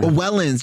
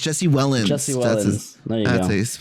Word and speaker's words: Wellens: video well Casey yeah is w-e-l-l-e yeah Wellens Jesse Wellens that's how you say his name yeah yeah but yeah